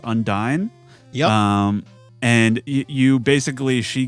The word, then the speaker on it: Undyne: Or you fight that boss, I think it's pronounced Undyne.